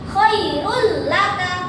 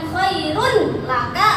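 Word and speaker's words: خَيْرٌ لَكَ: Khairul laka, bukan khairun laka atau khairul laka. Itu salah.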